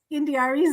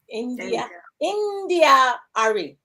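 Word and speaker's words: India.Arie: I wasn't gonna point it out, but you butchered Indiari's name too. I was gonna let that slide. Come on. Okay, so how did I say it? Girl, you were like Indiari. India-ari.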